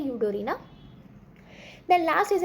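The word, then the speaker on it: Eudorina: यू डी ओ आर आई एन एस की spelling होती है यूडोरीना देन लास्ट इज अ उ गेमस उ गेमस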